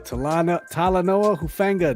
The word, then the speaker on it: Talanoa Hufanga: Dev, pronounce this guy's name. Talanoa Hufanga. There you go. Talanoa Hufanga, defensive back, San Francisco 49ers.